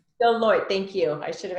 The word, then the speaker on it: Deloitte: Deloitte. Deloitte, thank you.